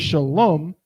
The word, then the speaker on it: Shalom: and how many syllables the word Shalom has two syllables we have two connectors